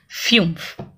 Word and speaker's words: fünf: That is why for the pronunciation only I have given you this example. Fumph.